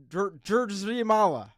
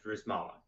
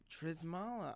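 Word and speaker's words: Drzymala: Drizzy Mala. Am I wrong? Am I right? It's if you just act like the Y and the Z or reverse, it's a lot easier. I pronounce it Drizmala. Drizmala.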